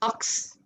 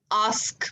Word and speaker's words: ask: Okay, now a common mistake that we make with ask is we call it aks. Ask me. No, ask me.